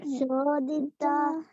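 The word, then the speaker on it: codita: Maya manashijata karma maniyam kalena kudati Kalena chodita. Kalena chodita. Okay. So, CO is pronounced so. Okay. Sodita Gunanatena Pumsa.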